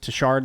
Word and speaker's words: Tashard: I think that Tashard, that is how you say his name.